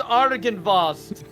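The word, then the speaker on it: Argynvost: It's pronounced Argan Vos.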